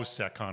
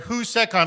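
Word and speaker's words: HouSecCon: By the way, we are recording live at HCON, which by the way, I pronounced incorrectly. I did like how Seccon or something stupid like that. I got definitely admonished for that. But we're at Husseon.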